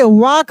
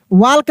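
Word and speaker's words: walk: वाक पढ़ेंगे, वाल्क नहीं पढ़ेंगे। एल साइलेंट है, साइलेंट लेटर में सिखाए थे, ठीक ना।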